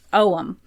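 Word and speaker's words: Ogham: is uh it's it's spelled aam but it's pronounced omam it looks quite different from the fuar runes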